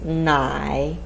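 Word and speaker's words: 奶: The pronunciation of this character is nai.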